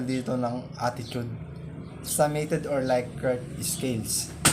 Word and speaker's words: Likert: So, pronounced as Likert.